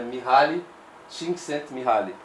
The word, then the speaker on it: Mihaly Csikszentmihalyi: psicólogo húngaro, demorou 6 anos para eu conseguir pronunciar o nome dele, mas é Mihaly Csikszentmihalyi.